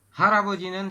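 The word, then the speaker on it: 할아버지: Ini real kan di akhir, ini bukan hal aboji, tapi dibacanya adalah haraboji.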